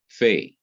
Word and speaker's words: Fe: example is the consonant fae without the dot in the heart or the middle of it it is pronounced as ph such as in telephone or as the f in fan but when it has